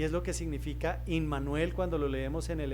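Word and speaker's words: Immanuel: Se lee in manuel. Y si ustedes separan la palabra como suele ocurrir con los nombres y las palabras en hebreo, se compone de tres eh sílabas. La primera sílaba, im, que leeríamos en español em, significa con.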